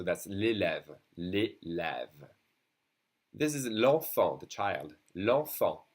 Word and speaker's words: enfant: This is l'enfant, the child. L'enfant, and we don't say the T.